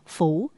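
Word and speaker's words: 不: lượng bao nhiêu chăng chữ bất này phải đọc là phủ như chữ Khả Phủ có được Hay chăng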